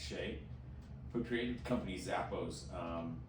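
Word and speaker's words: Hsieh: His name is spelled H-S-I-E-H, but it's pronounced Shay, who created the company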